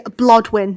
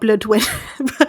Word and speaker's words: Blodwyn: Yeah, no, yeah, Blodwyn, not Bloodwyn. Can be pronounced Bloodwyn, but it's Blodwyn.